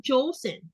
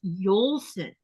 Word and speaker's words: Jolson: I was saying Jolson. It's not Jolson, it's Yolson. Oh no.